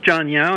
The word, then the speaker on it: John Yao: I wanted to read a quote from uh John Yao is that how you pronounce his name John John Yao yes John Yao's review in uh hyper allergic